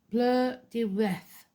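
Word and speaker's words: Blodeuwedd: Bloodwood. Pronounced bleu de reth, meaning flower face, or the ancient word for owl.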